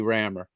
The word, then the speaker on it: Rammer: as the spelling uh some people have tried to pronounce it other ways but it it is simply rammer yeah i like that